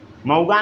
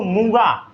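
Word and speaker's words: muga: क्या आता है, मऊगा नहीं बुद्धू, मूगा। क्या आता है, मूगा MOOGA।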